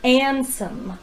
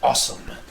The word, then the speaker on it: Ansem: This says that your name is Ansem, with an N. No, it's awesome. The W is silent.